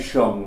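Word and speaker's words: sheng: visual on this thing they say Sean but it's spelled Shang yeah and a fantastic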